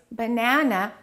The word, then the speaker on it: banana: We stress one and we reduce the rest. In this case, banana, the second syllable is stressed.